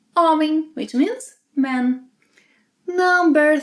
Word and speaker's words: homem: Unlike English, the letter H is not pronounced in Portuguese. And every time a word ends with M or N, it means that you must nasalize the preceding vowel. So, silent H, O, men, em, nasalized. Homem.